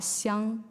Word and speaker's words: Xiang: the next one is x i is pronounced as she so it when it's in putting names it's called Xiang the first one second